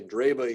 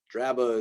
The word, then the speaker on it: Draba: So I think people say Draba here. Draba is maybe a little more accurate classically, but I often hear Draba, Drosera, Drymocallis, E, Echinacea,